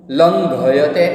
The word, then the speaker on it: लंघयते: पंगुम, प है, उसके बाद दूसरा वर्ड है जो ड के ऊपर एक बिंदी है और ड के साथ में एक बिंदी है। ओके, ड के साथ में एक बिंदी है, उसको क्या बोला जाएगा? अंग। पंगुम लंघयते, अंग के नीचे ग है, इसलिए लंघयते।